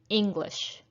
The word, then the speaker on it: English: If you look at the second word here, English, we have 2 syllables, English. I'm going to say it twice. See if you can hear which syllable is stressed. English, English. It is the first syllable that is stressed.